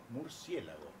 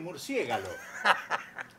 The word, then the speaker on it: murciélago: un san diego bueno en el origen el comienzo de nuestro idioma esa palabra fue murciégalo se relaja pero la gente se equivocaba y pronunciaba murciélago cuando la mayoría se equivocó la correcta pasó a ser murciélago ahora ahora hay gente que se equivoca también y vuelve a decir murciégalo entonces que hizo la